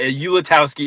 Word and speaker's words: Ulatowski: I honestly don't know if we're even pronouncing it right. It could be Olatski. I have no idea, but Ulatowski is how I was uh taught to say it.